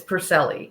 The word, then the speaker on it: Puricelli: name right or close it's close it's Peli so the second ey is silent the crazy hidden Italian eye okay awesome perfect I